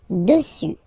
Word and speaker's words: dessus: Final S not pronounced. Dessus, dessus, dessus.